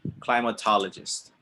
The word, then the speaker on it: climatologist: you go climatologist clyde we're gonna put clyde like bye fly ma ha la just it's a big word climatologist climatologist can you repeat after me climatologist now i know it looks like mate mate like partners um but no climate beautiful temperatures we have